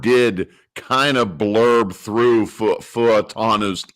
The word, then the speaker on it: Fautanu: As Brian had a nice post on Oneberg this past week on how to correctly pronounce our 1st-round offensive tackle, Fautanu. Troy Fautanu.